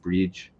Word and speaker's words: Brigid: I believe her name is pronounced bridge usually, but I'm just going to call her Bridg.